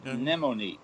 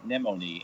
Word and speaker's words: Nemone: Nemone. Nemone. The pronunciation is akin to a sea anemone. Okay. Of course, there's no A in the spelling of the name, but it would rhyme. Let's say Nemone.